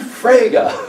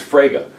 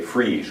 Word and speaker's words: Frege: he's this guy and eventually oh you mean fraga okay there are certain terms and especially names in philosophy that you have to pronounce correctly or you sound dumb okay like